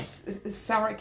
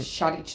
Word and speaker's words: Shadic: Sarek is the Australian way and Shadic is the Croatian way.